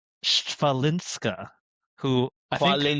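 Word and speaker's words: Świątek: But it's Sh- Swiatek. Who I think Swiatek. It's Swiatek. Swiatek. I thought it was a V. Swiatek.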